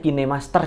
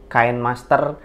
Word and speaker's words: KineMaster: kita gunakan adalah kinemaster Oh ya bacanya kinemaster Ya kain Master Kind Master dan lain-lain salah hebatnya kine Master nah